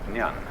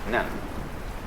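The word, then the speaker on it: 念: This it's pronounced nyan Japanese nun and the top part of the character uh means now and the bottom part means the mind heart the shin.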